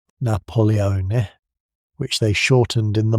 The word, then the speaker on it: Napoleone: He pronounced his own name in an Italian way the French boys could not produce, Napoleone, which they shortened in